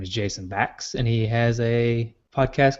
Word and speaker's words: Bax: Bax with an X, BAX, rhymes with tax.